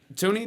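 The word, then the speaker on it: Thuney: signed uh the lineman joe what's his name joe dunny joe tooney toony that's how you say it five years 80 million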